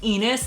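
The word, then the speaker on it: Ennis: wrote its name is garth enos that rhymes with penis he's a very famous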